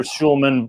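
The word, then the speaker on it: Hjulmand: as well i think i think it's casper casper schulman but with the hj pronounced shh oh it is casper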